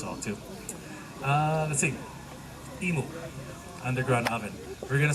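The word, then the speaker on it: imu: the U ceremony now emu is spelled I AMU meaning Cooking Pit or underground oven but sounds sort of like the U bird uh we're cooking a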